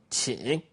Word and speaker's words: 请: So, when you hear the way I pronounce it, you guess which tone. 请. 请. Which tone is it? Of course, the third tone.